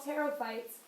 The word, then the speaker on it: pterophytes: Whisk ferns, horsetails, these are all pterophytes, and that's like pterodactyl, so the P is silent.